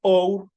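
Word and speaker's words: hour: artículo an por ejemplo Our or esta H si nosotros vemos aquí esta H de aquí or no tiene sonido es una H muda y el sonido arranca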